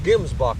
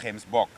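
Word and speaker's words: gemsbok: this uh hemsbach i keep trying one called gimsbok but you call them hemsbot yeah they pronounce very much identical to what you pronounce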